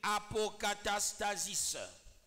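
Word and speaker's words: ἀποκατάστασις: Et quand on te restaure, en grec on appelle apokatastasis. Apokatastasis. On écrit comme on prononce.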